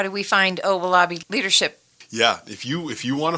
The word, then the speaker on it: Owolabi: So it's spelled just like it sounds. Owalabi. That's close. Oh no. Okay. It's Owolabi.